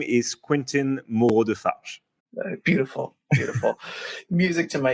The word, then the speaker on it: Quentin Moreau-Defarges: me here uh so my full name is quentin mordeface beautiful beautiful music to my ears but i